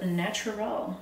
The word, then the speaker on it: Naturyl: Today is gonna be stress test day for this brand called Naturyl. Not natural, I mean, it's spelled kind of weird. Naturyl, natural. No, they're trying to say natural.